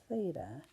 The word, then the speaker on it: theta: those we were wondering this symbol is pronounced theta and it's just a Greek letter they usually use data